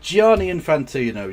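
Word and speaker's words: Gianni Infantino: But you show you saw that he's thinking um Infantino. Is that how you say his name? Giani Infantino.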